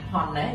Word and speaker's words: honest: is honest is trusted មានន័យថាបុរសដែលស្មោះត្រង់ is honest ពេលនេះយើងអត់អានយើងមិនមែនអាន honest យើងអាន honest ដូច A ហ្នឹងក៏ឲ្យឈ្មោះថា silent letter ណាអញ្ចឹង the man who is honest is